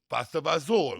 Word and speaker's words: pasta fagioli: Pasta fagioli. Pasta fazool.